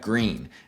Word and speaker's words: Gruene: And then within New Braunfels, too, you have Green. Gruene. It's pronounced green like the color.